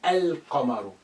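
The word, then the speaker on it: القمر: note something happening here here i say al camaro i pronounce it al the in its totality but here i just say ah you cannot hear the sound of lam that's been suppressed but this is remainder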